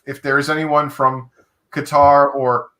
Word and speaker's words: Qatar: but thank you for proper pronunciation is closer to cutter okay holly holly and